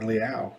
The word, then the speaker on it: Leal: DeMarvin Leal, or Leal, that's how they pronounced it at the draft this year.